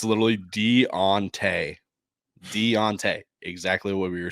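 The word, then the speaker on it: D'Onta: of our platforms saying this is how you pronounce his name oh I looked it up and it's literally Deontay Deontay exactly what we were saying so Deontay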